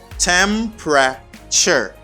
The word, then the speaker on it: temperature: pr you say prep temperature tempra temperature temperature temperature the temperature okay temperature the stress is in the first syllable you just say temperature